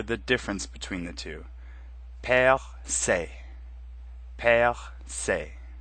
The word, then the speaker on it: percé: They're both pronounced the same, percer and percé. Notice that the first E is our accent grave sound, where the final E in both words is our accent aigu sound.